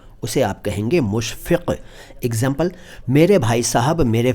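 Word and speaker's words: मुशफ़क: अब मुशफक अच्छा उच्चारण का खास ख्याल रखें क्योंकि अगर आपने नुक्त नहीं बोले तो भाई कुछ और बन जाएगा।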